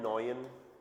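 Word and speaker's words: neun: 9 के लिए यूज करना है नॉयन, ईयू का साउंड ऑय, ईयू का साउंड क्या करेंगे, ऑय, नॉयन।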